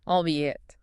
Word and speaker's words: albeit: While it looks like two separate words fused together, it's pronounced as a quick two-cllable unit. Albeit. Albeit.